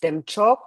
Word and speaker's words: Demchok: And Chakra Samvara, so in Tibetan, it is Demchok, two syllables. De is bliss and Chok is supreme.